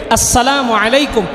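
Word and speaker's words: السلام عليكم: হামজাটাকে ভালোমতো উচ্চারণ করবো। হামজা ইয়াসিনকে ধরবে। আসসালামু আলাইকুম।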